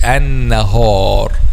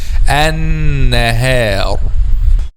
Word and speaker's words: النهار: word and similar words, they make letter ha a heavy letter and say an-nahar, ha, instead of saying an-nahar.